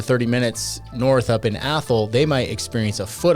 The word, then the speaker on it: Athol: up AOL that's pronounced athl think but pronounce it like Mike Tyson would and that's how you get the pronunciation of that I've heard every pronunciation imaginable but that's the one athl population about 742 great